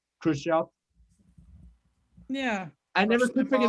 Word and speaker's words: Khrushchev: out why you have russian names that end with ev but they're pronounced like off like gorbachev or khrushchev yeah i never could